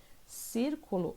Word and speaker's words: círculo: Então, como eu disse para vocês, círculo, a sílaba tônica é o cir e ela é a antepenúltima sílaba.